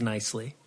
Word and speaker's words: Knisley: Yeah, and so then what I did was I Googled pronounce, and then I got basically the closest thing was Nicely. So yeah, it's like, knife, like silent KN.